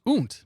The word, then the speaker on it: und: cheers buddy appreciate it in German und pronounced int means and I learn something new